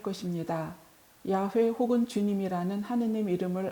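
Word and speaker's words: 야훼: 히브리 시기 되면 고유명사 야외에 발음 표기 입니다 정확히 말하면 유다인들이 하느님 이름을 직접 대놓고 발음하기가 소무 스러워 야외 라고 쓰고 아도나이 꽃 주님 이라고 읽는 풍습을 따른 것입니다 우리는 한글로 골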